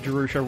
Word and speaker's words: Jerusha: is jerusa that pronoun did I pronounce it right jerusa that's right it is jerusa is jerusa a a